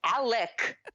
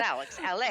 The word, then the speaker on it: Alec: nelson and ali sheedy alec not alex by the way could we start a drinking game and we could drink every time ali sheedy's character says alec that's very very with the hard c yeah come on alec